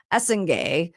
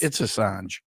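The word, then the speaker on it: Essengue: French forward Noah Essen or it's Assange. Assange. It's not Essen. That's the way that it's phonetically broken out on and college French. I I swear it's not ingen. Noah. It's Assange. Assange. Yeah. Noah Assange.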